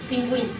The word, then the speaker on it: pingüino: Es el signo ortográfico que sitúa sobre la vocal U en las sílabas que y ki. Para indicar dicha vocal debe pronunciarse. Ejemplo, cigüeña, pingüino.